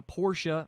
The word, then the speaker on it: Porsche: have that great shirt that says Porsche is a two syllable word and we've Porsche approves